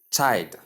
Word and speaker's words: child: There is la sound. The la sound is not silent here. It is pronounced. So you can hear it.